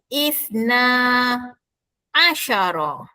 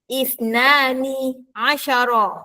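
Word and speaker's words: اثنا عشر: Tetapi 12 bunyinya ialah isna. Asyara. Ha nampak kita buang huruf nun huruf n di akhir isnan. Jadi bunyinya ialah isna asyara. Kalau awak bunyi isnani asyara atau isnan asyara salah.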